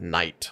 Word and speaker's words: knight: a simple word like Knight like a knight in shiming armor that K is silent right K N I